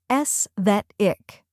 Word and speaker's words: aesthetic: The correct pronunciation is aesthetic. Let's break it down. First, we have s, which sounds like s in less. Next is that, which rhymes with bet and is stressed. Then comes ick, which sounds like ick in kick.